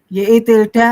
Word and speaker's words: tilde: Jadi kalau yang YI ini YI tilde ngomongnya. Oh, tilde.